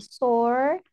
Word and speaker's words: sore: Nah, sore ini artinya sakit. Sore. Bacanya sore. Sure. Oh, Sore. Agak susah ya. Cek Sore. sebutannya. Yang orang sulit pengucapannya adalah di huruf R-nya.